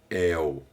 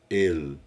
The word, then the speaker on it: El: para o nome e essa pronúncia não é el é ele é como se os solistas dissesse né o l na palavra sala aqui a gente fala sal né lá eles falam falam e é a pronúncia do l em hebraico deve aparecer então por